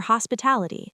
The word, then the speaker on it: hospitality: Thank you for your hospitality. Deep dive. A long word. Hospitality. The main stress is on the ta practice.